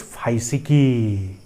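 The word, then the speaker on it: φυσική: And the pronunciation of the word is phaisiki.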